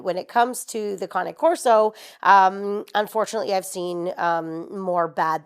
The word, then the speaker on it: Cane Corso: It's cane corso, not cane. It comes from the Italian word cane, which simply means dog. So it's pronounced cane. So yeah, cane corso.